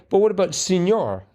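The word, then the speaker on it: señor: But what about senor? That's spelled S-E-N-O-R, and that sounds like an E.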